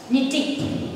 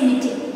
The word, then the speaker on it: knitting: The next one is knitting. Spelling, it starts with K, but that K alphabet is silent. Okay, when we pronounce, we just say knitting.